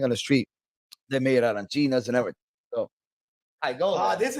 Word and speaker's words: arancina: so the third time he goes, arancina. Quello che è arancina, un'arancina.